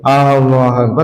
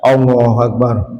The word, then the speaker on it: Allahu Akbar: Ini salah satu makhraj kan pertemunya dua bibir bukan Allahu Akbar. Allahu Akbar. Sampai khusyuknya Allah. Nah, itu malah bacaannya salah harusnya. Allahu Akbar. Ini enak kalau kita bacanya apa namanya begitu. Allahu Akbar ya.